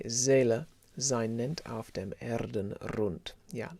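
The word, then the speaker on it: Seele: kind of h zela another zed instead of an s basically zela zein nent after him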